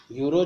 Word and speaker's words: Euro: यूरो जो होती है EURO ऐसे लिखा जाता है, यूरो। ठीक है, इसको ई साइलेंट तो यूरो ही पढ़ा जाता है, ई साइलेंट होता है।